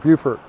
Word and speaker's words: Beaufort: why we pronounce it beaufort so i just like to say it's because it's so beautiful but uh we had